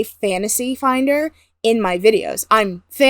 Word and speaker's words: Fantasy: No, it is quite pronounced literally Fantasy it is. Finder. It is pronounced fantasy, not spelled fanasty, like some people like to say.